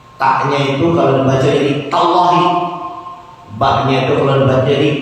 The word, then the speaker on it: tallahi: Wa-nya itu kalau dibacanya jadi wallahi. Ta-nya itu kalau dibaca jadi tallahi.